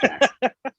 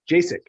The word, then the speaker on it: Jack: No, it's Jack. I know it's Jack. I'm terrible. Well, it could be worse. You could be saying Jacek.